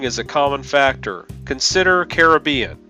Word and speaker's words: Caribbean: common factor consider Caribbean even in the Caribbean some people say the name with the stress on the first syllable and some with the stress second we do know that the version with the stress on the first syllable is the older one the second syllable stress version likely gains traction from the BB in the spelling but that pronunciation has